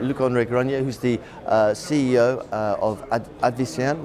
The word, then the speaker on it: Luc-André Granier: I'm joined by Luc-André Granier. Perfect. Yeah, I had to get the pronunciation. Luc-André Granier, who's the CEO of Advicenne, which is a Nimes, France-based company.